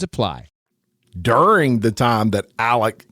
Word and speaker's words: Alex: during the time that Alec was actually at those kennels or elic if you pronounce it that way and you can hear